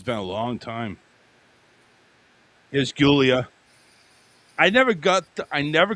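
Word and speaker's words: Giulia: Julia. That's how they spell it. So the I is silent and we use a G instead of a J.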